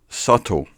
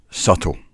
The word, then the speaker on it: subtle: not so obvious and more sophisticated silent B subtle don't pronounce it be at all subtle subtle try to spell toy is there an in